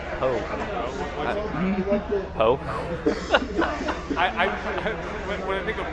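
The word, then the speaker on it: Pou: I don't know how to pronounce it. Yeah, it's Poe.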